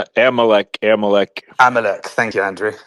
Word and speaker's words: Amalek: But he used that type Amalek Amalek Amalek, thank you, Andrew.